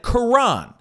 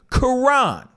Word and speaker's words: Quran: Remember, I just said Quran. That's how you pronounce it. Quran.